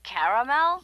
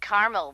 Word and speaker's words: caramel: Oh, the caramel? Yeah, that's what I said, Tina. Actually, you said caramel when it's pronounced caramel.